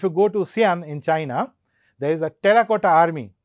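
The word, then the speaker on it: Qin: lot of rebellions against him and therefore the Ching Dynasty Chin Dynasty does not last for a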